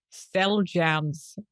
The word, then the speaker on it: Xeljanz: There's another one that I found called Cell Jams. And I wonder if you can guess how it's spelled.